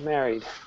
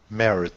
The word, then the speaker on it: married: hear I didn't say married I said married married it was very soft wasn't it but we know that married is a D sound now I'm going to